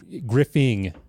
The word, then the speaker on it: Griffing: the end, which is how you spell my last name, is pretty uncommon relative to Griffith and Griffin with just IN, right? So we're like hypersensitive to Griffing. Like when I'm spelling it or pronouncing it to like a new person on the phone or spelling it, I always say there's a G at the end.